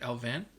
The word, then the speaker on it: Allvin: New GM, Patrick Alvin, I believe is how you say it, Alvin? Something like that.